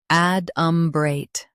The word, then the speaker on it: adumbrate: Both US and UK have the same pronunciation of this word, ADUMBRATE. Now read the syllables shown on the screen naturally. Ad, brate, ADUMBRATE. Emphasize add and keep brate smooth.